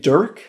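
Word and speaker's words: Durk: This was a guy named David Dirk. Don't get that name wrong. David Dirk, not David Duke. Not David Derp either.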